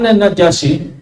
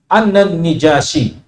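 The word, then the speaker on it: النجاشي: ya beliau mengatakan an najasi ya yang populer kita najasi tapi yang paling fasih bacanya dengan mengkasrahkan nun annan nijasiy oke annan nijasiyi ahda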